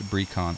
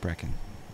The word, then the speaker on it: Brecon: Brecon is it Brecon is it like breakfast like Brecon Brecon alright Brecon thank you that's the